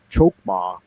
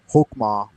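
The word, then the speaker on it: Chokmah: And he said Chokma and Chesed, but I think that CH is actually just an H in Hebrew. And so I've always heard it pronounced Keter, Hokmah, Bina, and Hesed. But I guess you could say it Chesed as well, because it is written CH in English.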